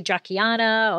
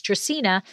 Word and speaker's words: Dracaena: game of thrones because people have such a difficult time saying dracena that a lot of them say jacquianna or whatever and i just it's latin it's dracaena and we even have